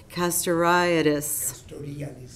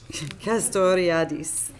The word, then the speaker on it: Castoriadis: among uh Cornelius Custer I'd I can never pronounce this caste riotous castoriadis thank you he had been officially kicked out